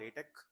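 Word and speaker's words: LaTeX: So it's it's spelled uh like this but it's called latte.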